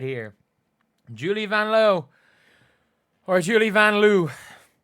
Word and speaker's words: Vanloo: Julie Vanloo or Julie Vanloo. I think her name is pronounced Julie Vanlow, but um she doesn't mind people chanting Julie Vanloo because uh you know it's a good chant.